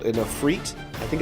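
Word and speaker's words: afrit: a mohawk called in a freit i think it's called a fruit it's spelled a-f-r-i-t i think it's i should say i think it's pronounced a freit um and it was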